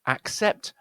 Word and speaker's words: accept: The real comparison is between accept and accept. You'll see how this is one of these words where the double C is actually represents two sounds. One is k and one is s.